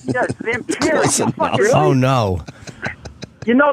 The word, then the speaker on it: Zamperini: I mispronounced his name. What'd you say? Zamperini. He was saying, yes, Zamperini.